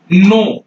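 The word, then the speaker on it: know: मैंने यहां लिख दिया नो ये क्या है नो है के एन डब्लू तो ये के को हम क्यों नहीं पढ़े कब नहीं पढ़े क्यों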